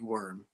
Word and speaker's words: Wirm: yeah no it's yeah it's misspelled on purpose and um and I make people misspell it and I make people uh call me worm yeah it's a great